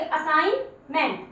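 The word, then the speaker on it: assignment: आप, ध्यान से सुनिए, जी और एन इकट्ठा आ गया है तो किसको साइलेंट रखोगे? जी को साइलेंट रखोगे। असाइनमेंट, असाइनमेंट।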